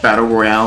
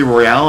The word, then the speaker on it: Battle Royale: Except in wrestling, they pronounce it Battle Royal, and it's clearly Royale, and it makes me mad every time.